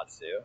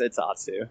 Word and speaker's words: Atsu: My name is pronounced Atsu. What did I everybody say? knows. No, I'm not saying that you said it. I'm just saying, like, in general, because I've had, like, a lot of people mispronounce it, especially, like, in the middle of a dance comp. Like, they'll announce me and they'll say Atsu, and I'm like, bruh. So, yeah, it's Atsu. Just throwing that out there.